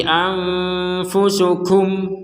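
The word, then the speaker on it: أنفسكم: dengung 100% jadi samar Anfu tidak dibaca Anfu itu jelas tidak juga dibaca amfu itu samar itu itu dengung jadi harus dibaca samar Anfu aufu seperti itu kemudian di sini kusan kita berhenti anfusukum Nah karena kita berhen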